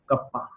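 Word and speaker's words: kappa: इट्स नॉट के, इसको pronounce किया जाता है कप्पा से, ठीक है। तो हमें याद रखना है स्मॉल के इज डिनोटिंग कप्पा, जिसे हम प्रोनाउंस क्या करेंगे, कप्पा प्रोनाउंस करेंगे।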